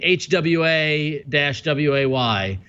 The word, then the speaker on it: Huawei: answer it says although the Mandarin romanization is normally pronounced Huawei Hwa - waa why the cants the Cantonese